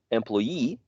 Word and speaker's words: employee: last box or rectangle, these suffixes attract the stress. Whenever you use them, that is the syllable which is going to be stressed. So pay becomes payee, employ becomes employee, becomes journalist, cigar becomes cigarette, and picture becomes picturesque. Okay, so you need to